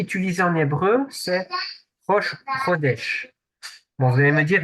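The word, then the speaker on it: חודש: dise pas de bêtises, Chet, qui est prononcé comme un R. C'est pour ça qu'on dit Roche, Chodesh.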